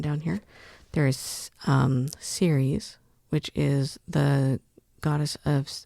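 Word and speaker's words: Ceres: There is um series which is the goddess of um grain and it's c e r e s and then there is which is s e r e s and they're just slightly pronounced differently.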